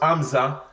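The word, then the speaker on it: همزة: When you pronounce Hamza, it's like you are making a stop.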